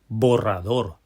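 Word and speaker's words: borrador: I know this is a little bit of a tough word. It's got those three syllables, but they're a little bit more complicated. We're working with that double R. We're going to have to roll that R. Think of this like we're playing basketball. We're going back to our bouncing method. Three syllables, three bounces. B ra we get that strong bead on the door when we end borador. Say eraser.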